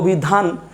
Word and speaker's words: অভিধান: এখন অভিধান, উচ্চারণটা কি অভিধানও নাকি অভিধান? ডেফিনেটলি উচ্চারণটা অভিধান, তাই এই নয়ের নিচে হসন্ত একটা হবে, হয়ে গেল অভিধান।